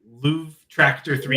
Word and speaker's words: luvtractor3: I say it like that so people know how to spell it, even though it probably doesn't help with the spelling.